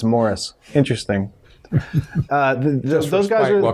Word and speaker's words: Maurice: stronger more strong yeah it's spelled maurice but he says it's morris interesting uh those guys